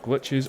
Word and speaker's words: Glitchiz: Am I pronouncing that correctly? Glitchiz. Yeah. Yeah. We have Glitchiz on the show.